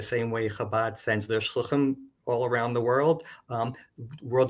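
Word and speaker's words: שלוחים: way Chabad sends their shluchim all around the world. World Zionist Organization also sends shluchim, although I'm told I keep on pronouncing that not in the Hebrew way, but in the Yiddish way.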